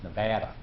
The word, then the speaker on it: Nevada: Simmons to pronounce the name of the state correctly it's Nevada man you have to give up all of